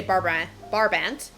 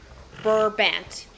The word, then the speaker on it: Brabant: I could just say Barbant. I've seen some people spell it Barbant, but it's Brabant.